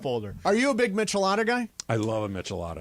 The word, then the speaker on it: Michelada: You know where else you can have a good Michelada? And I know this because I Is had it Michelada or Michelada? That's probably a more authentic, Michelada. authentic pronunciation.